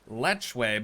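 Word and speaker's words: lechwe: exhibit here for the Nile properly pronounced lechway but I think we can all agree that we just sounds way more dope so this morning I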